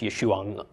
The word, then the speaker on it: Yeshua: Also, just a little side note, Yeshua, that name ends in an ayin. So there's actually a subtle sound at the end of the name. So it's Yeshua, except I'm belaboring it a little bit.